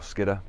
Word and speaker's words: Skiddaw: And then hopefully by about lunchtime we'll be at the base of Skiddaw, or Skidder, as I would think the locals would be pronouncing it.